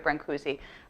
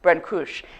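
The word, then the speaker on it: Brâncuși: I'm going to call him Brancusi, but if I were really Romanian, it probably should be something more like Brancusi.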